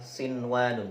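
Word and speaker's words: صِنْوَانٌ: Karena biasanya, jika nun sukun bertemu ya atau wawu, itu adalah pembacaan Idgham Bighunnah . Khusus untuk beberapa kata ini. Kita akan membacanya sebagai Izhar atau bacaan yang jelas, ya.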